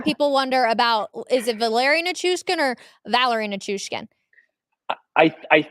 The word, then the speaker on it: Valeri: But the same thing people wonder about, is it Valeri Nichushkin or Valerie Nichushkin? I think the way that you're saying it is Valeri. Correct. I'm sorry. Yes, it is Valeri.